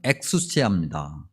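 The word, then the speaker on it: ἐξουσία: 몇 번 설명드린 적이 있는데 이 권위라는 단어를 굳이 헬라어 단어로 설명을 해야 되는데 그 단어의 발음은 엑수시아입니다.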